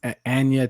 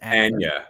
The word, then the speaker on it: Anya: So it's Anya Taylor-Joy, and that's the correct pronunciation of her name is Anya. It's not Anya. I've been saying Anya. Yeah, it's Anya. Anya.